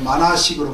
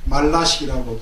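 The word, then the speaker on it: 말나식: 그 다음에 그 109페이지에 방금 전에 설명을 드렸던 제8식설, 뭐 의식, 전호식, 의식, 만화식, 여기서는 말라식이 아니라 뭐 만화식으로 그렇게 되어 있지만은 말라식이라고 발음하는 게 더 낫습니다.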